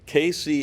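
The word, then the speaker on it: Cayce: we own that site too by the way casey is spelled the french way c-a-y-c-e check us out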